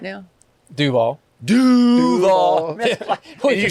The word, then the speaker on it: Duval: Duvall.